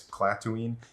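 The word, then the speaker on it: Klatooine: the Wikipedia page uh clatooine is spelled k-l-a-t-o-o-i-n-e very similar to Tatooine but it's platoon and it's in Hot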